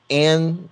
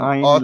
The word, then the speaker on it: Ayn: Um, Anne Rand, did Yep. I pronounce that correctly? I hope I Yeah. did. Like Author, ein, like mine, Rand oh, or Miss Rand.